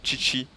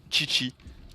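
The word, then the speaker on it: Qiqi: Et je joue aussi Chichi.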